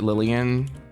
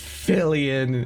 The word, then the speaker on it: Fillian: time oh oh no her name's fillian it's not Lilian oh it's not Vivian it's not livan it's fillian oh my my god